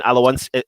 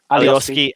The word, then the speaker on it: Alioski: They've brought on Alowinski. How do you pronounce his name? Alioski, and then Harrison, who we was quite surprised not to see starting for Leeds.